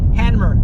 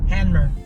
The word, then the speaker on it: Hanmer: Oh, we're in Hammer Springs. Oh, boy. Handmer. I keep saying it wrong. I say the M first and the N first. Handmer.